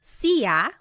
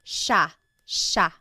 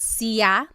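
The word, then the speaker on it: siya: It looks like it should be pronounced sea, but it's actually pronounced sha sha. There are some regions in the Philippines that might pronounce it sa but for the most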